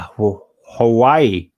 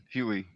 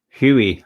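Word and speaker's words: Huawei: far as mobile devices concerned I've got a Hawaii it's not actually pronounced Hawaii but right Huey Huey that's right and um I was tempted to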